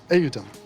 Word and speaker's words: Eutun: Phonetically, Ayeutun. Tun. Tun. Atom? Yeah, Eutun. But like you have to it's like short.